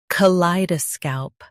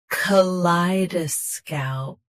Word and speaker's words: kaleidoscope: Today, we will learn how to pronounce the word shown on the screen. Kaleidoscope. Both US and UK have the same pronunciation of this word. Stress. Lie. Keep scalp crisp, not sca. Kaleidoscope.